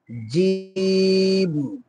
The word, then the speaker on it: জিম: জিম, বলো সবাই আমার সাথে সাথে বলো, জিম, জিম, জিম। হ্যাঁ, এটা 1 আলিফ লম্বা হবে, এটা একটু শক্ত করে হয়, এটা সাধারণত উচ্চারণ একটু কঠিন হয়, সমস্যা নাই, ইনশাআল্লাহ আমি